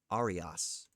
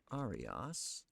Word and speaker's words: aria: I'll use the Italian pronunciation because it looks Italian.